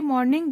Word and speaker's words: mourning: ध्यान दीजिएगा आप लोग, यहाँ पे मॉर्निंग एंड ये मॉर्निंग दोनों का प्रोनाउंसिएशन सेम है बट स्पेलिंग जो है वो डिफरेंट है।